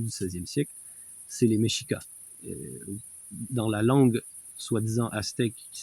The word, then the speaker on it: Mexica: 16e siècle, c'est les méchikas. Dans la langue soit-disant qui s'appelle le nawat, le X se prononce comme cheveux. Donc Meschik, c'était le nom de la nation qui régnait au moment de l'arrivée des espagnols.